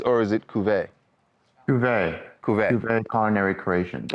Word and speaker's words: Cuvée: How do you pronounce the restaurant? Is it Cuvées or is it Cuvée?